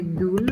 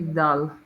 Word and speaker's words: dull: So, the pronunciation here we don't say dul, we say dull.